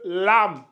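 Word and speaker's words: لام: LaM Lam comme ça j'aime rajouter un deuxième a pour dire aux élèves voilà il faut bien ouvrir la bouche c'est le lâ lâ la lettre lâ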